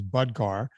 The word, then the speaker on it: Budgar: He goes, "Hey man, thanks for mentioning me on the show, but it's Budgar." He wrote to me Budgar. to say I'm saying his name wrong, and he goes, "I